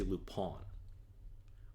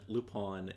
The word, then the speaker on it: Lupin: Okay, so it's spelt Lupin, but they say Lupin, which always throws me off.